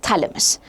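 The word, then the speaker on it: Chthamalus: So initially you had the phalamus and thalamus basically it's spelled like this c t h a l m a s m u s. So there's a c which is silent always remember that.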